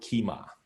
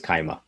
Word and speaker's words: Kyma: the wave and uh it's a little bit hard to pronounce because key why but it's called keema so yeah it's it is not a native english speaker's uh tongue for sure so i'm not sure we in america everybody i introduced it to said it incorrectly as kaima yeah exactly yeah it